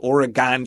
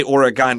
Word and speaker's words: Oregon: fact there's a an old Mac game called origon Trail and they call it that oron trail